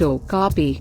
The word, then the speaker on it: okapi: the Okapi pronounced Okapi is beautiful and unusual with its white and